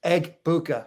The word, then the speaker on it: Egbuka: game pro if EMA egbuka that's egg bua not a very hard